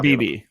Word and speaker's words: Beebe: If you want to just go pure offensive line guard, I think, whether I'm pronouncing this right, you got Cooper Beebe or Bebe. Cooper Beebe.